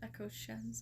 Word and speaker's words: Echo Shen: Pronounced Echo Shen. Okay. So, I pronounced that right.